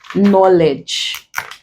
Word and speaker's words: knowledge: is not pronounced there when consonant K or letter K rather comes before letter N at the beginning of a word the K is usually silent so in this words